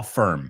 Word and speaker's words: firm: We say a law firm. Se escribe firm, pero la I es como una E.